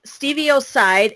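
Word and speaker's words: stevioside: like we are today, most people are going to think it's C-I-D-E as a killing agent. But these are steviocide, S-T-E-V-I-O-S-I-D-E, and then the sweeter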